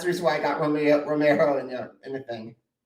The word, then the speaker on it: Romeo: that's I usually because my last name is Italian Origins people sometimes say uh Romero I used to say Romeo because that's how it's pronounced but now I just stick with Romeo it's the easiest absolutely